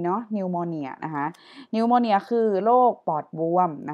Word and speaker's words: pneumonia: โม นี่ นะ คะ อัน นี้ ไม่ อ่าน ออก เสียง ตัว P เนาะ นิว มอ เนี่ย ฮะ pneumonia คือ โรค ปอด บวม